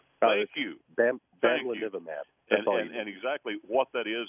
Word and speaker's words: Bamlanivimab: confused with this other thing that I can't pronounce. Bamlanivimab. Thank you. Bamlanivimab.